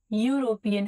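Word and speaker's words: European: यूरोपियन, अब इसको नहीं देखना, यूरोपियन, इसकी प्रोनाउंसिएशन यूरोपियन है और यूरोपियन में क्या लगेगा, ए।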